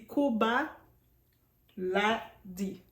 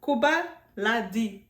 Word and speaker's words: Koba LaD: C'est Koba Ladi. C'est ça? Koba Ladi. Koba Ladi. Koba Ladi. C'est comme ça qu'on prononce. On prononce le D, ok?